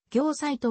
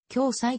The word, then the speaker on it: 暁斎: 絵師日本画家号は業サイトは読まず共済と読むそれ以前の共催